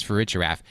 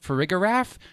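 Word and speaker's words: Farigiraf: of that Pokemon is for rigorraf Steve was pronouncing it correctly when I say that the name of that Pokemon is for a giraffe if you insist on calling it frigograph for the rest of your life when you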